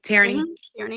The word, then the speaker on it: Tierney: Tierney.